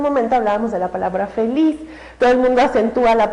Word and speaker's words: feliz: tónica esté al final entonces la palabra feliz no la palabra feliz termina en Z Entonces yo sé que es seguramente No por el sonido es una aguda feliz No termina en ese